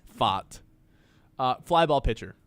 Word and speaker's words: Pfaadt: the mound for Arizona, Brandon Pfaadt. I think is how you say that last name. Pfaadt.